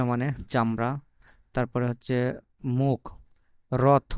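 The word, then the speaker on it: рот: করেন আর ও টি এটার উচ্চারণ কিন্তু টি হবে না এটার উচ্চারণ বাংলায় ত এর মত হবে রথ রথ ঠিক আছে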